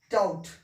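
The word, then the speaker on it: doubt: होगा ठीक है ये बी का उच्चारण नहीं होगा क्लियर है बी का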